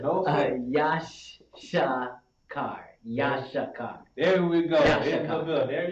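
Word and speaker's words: יששכר: Yashakar. There we go. Yashakar. There you go. That's how we pronounce it.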